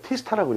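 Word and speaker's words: T*: 이건 뭐라고 읽어요? 티스타라고 읽어요. 티스타.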